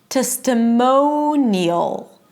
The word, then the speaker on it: testimonial: Testimonial. Neal. Editorial. And notice that in all of these words, the stress is the one syllable. The stress is on the one syllable before the suffix, right?